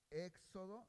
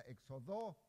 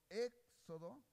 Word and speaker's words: Éxodo: Pero lo importante que yo les quiero decir es que este acento quiere decir que la E se pronuncia más fuerte. Quiere decir que cuando yo pronuncio éxodo, no digo, no, por